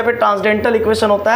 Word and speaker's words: transcendental: तो इस देखिए, इसको ट्रांसडेंटल पढ़ते हैं, यहाँ पर जो है कि ट्रांसकेंडल लिखा हुआ है लेकिन CEN साइलेंट रहता है।